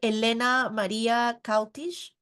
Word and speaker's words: Elena-Maria Cautiș: So now we will move on to the presentation by Elena-Maria Cautiș. Yes, that's the correct way to say it. Thank you. That's the correct one.